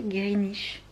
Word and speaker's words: Greenwich: Alors on m'a dit que ça se prononçait Greenwich, qu'on disait pas le W.